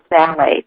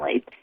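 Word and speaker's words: phthalates: contains an ingredient called phalates. And I'll spell it because if people want to look for it, it's counterintuitive. It's t h t h a l a t e s. Sal phalates.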